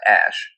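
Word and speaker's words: Æ: a a and then it looks like an e but it's pronounced ash and a 12 instead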